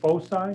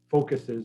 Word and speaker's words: foci: And C, these are the two foci. There are two focuses, but that's not how you say it. It's supposed to be foci.